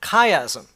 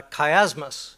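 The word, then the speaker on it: chiasm: chastic that is it's six chapters form a kaym or a Kay asmus as some call it let me let me spell that for you it's uh kaym is chi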